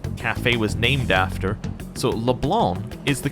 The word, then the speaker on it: Leblanc: who the um cafe was named after so leblanc is the correct pronunciation which i just thought was an interesting